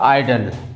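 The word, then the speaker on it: idle: सिर्फ स्पेलिंग का फर्क है, ठीक है, लेकिन हम चाहे तो इसको उसके उच्चारण में फर्क करके भी पहचान सकते हैं। जैसे इसका होता है आइडल और इसका आइडियल, ऐसे कह सकते हैं पहचानने की दृष्टि से, ठीक है।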